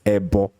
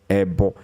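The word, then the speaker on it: ẹbọ: wish to sand because for those of you who are not yorubas you may have a problem in a pronouncing the word so we call it ebbo ebbo okay so and the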